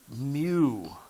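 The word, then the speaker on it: μ: probably use the countertop this is a Greek letter pronounced Mew okay that's how it's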